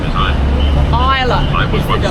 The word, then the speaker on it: Islay: And Islay is spelled I-S-L-A.